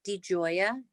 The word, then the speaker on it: DiGioia: you please um say your name and also spell it certainly my name is dr de joya d i g i o i a thank